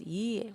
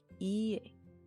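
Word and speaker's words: いいえ: When dealing with repeated vowels such as ee, you draw out the length of the sound. It's not quite the same as repeating the vowel twice.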